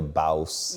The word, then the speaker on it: Bawse: Speaking of making it up as you go along, so your book, How to Be a Bawse. Yeah, nailed the pronunciation.